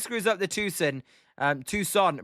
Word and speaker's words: Tucson: And Scott L um says a Tucson is how it's pronounced. Long o Tucson.